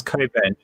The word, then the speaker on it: Cockburn: uh no i haven't been to cockburn let's pronounce koben is it yeah it's not special it's not